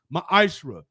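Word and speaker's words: מעשר: It means 10th in the Hebrew and is pronounced ma'ashra.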